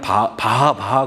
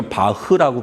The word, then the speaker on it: 바흐: 저는 뭐 옛날에 그냥 바하 그랬는데, 좀 이렇게 알고 보니까 바흐라고 발음하는 게 맞더라고요.